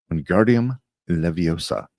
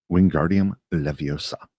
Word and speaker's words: Wingardium Leviosa: Wingardium Leviosa, he shouted, waving his long arms like a windmill. You're saying it wrong. Harry heard Hermione snap. It's Wingardium Leviosa. Make the gar nice and long.